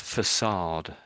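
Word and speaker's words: façade: So is So this word is pronounced as facade. Facade.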